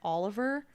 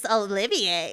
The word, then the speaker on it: Olivier: I pronounced it like Oliver. Got like 3 million views because Sure. people commented on it. It's Olivier.